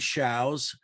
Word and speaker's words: Shows: My name is Shows. It's spelled like shows, S-H-O-W-S, pronounced like cows.